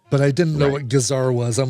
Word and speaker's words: gazar: Chenille and gingham I didn't have to look up but I didn't know what gazar was.